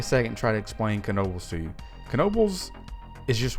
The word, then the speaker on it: Knoebels: It's Knoebels time. Apparently, I was saying it wrong incorrectly this entire time. I've been saying Knoebels, but it's apparently Knoebels.